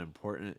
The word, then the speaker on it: important: i would say is it sounds like um m short i put the m poor this is like the poor like the word poor so that that second syllable and important should sound like poor like the not having money kind of like the